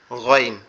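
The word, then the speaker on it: غ: গয়নের উচ্চারণটা হবে আমাদের গলার সাথে যে আমাদের মাথার যে অংশটা লেগে আছে, অর্থাৎ গলার সাথে আমাদের দাড়ির যে নিচের অংশটা লেগে আছে এইখান থেকে মনে হবে আওয়াজটা গালের ভিতর থেকে আসতেছে।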